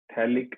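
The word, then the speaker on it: phthalic: बिल्कुल, ये थैलिक acid है, ठीक है, P साइलेंट है, थैलिक एसिड, थैलिक एसिड।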